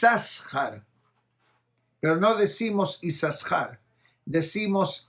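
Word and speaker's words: יששכר: tribu de y sahar y sahar se escribe con dos sin quiere decir yo puedo separar la palabra y sahar que diga y es dejar hay compensación de acuerdo a nuestra tradición decimos y sahar no mencionamos dobles y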